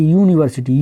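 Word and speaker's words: university: तो अब यहां पे देखिए यूनिवर्सिटी यू आ रहा है उच्चारण में यू तो यू नहीं है। इसका उच्चारण क्या है यहां पे? उ तो क्या हो जाएगा? ए एन तो आएगा नहीं। इसमें क्या आ जाएगा? ए क्योंकि ये कोसोनेंट साउंड है।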